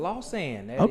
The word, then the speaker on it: Lausanne: Is that how you pronounce it? Lausanne.